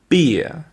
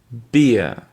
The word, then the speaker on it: beer: Vous avez ensuite une bière qui se prononce beer, beer.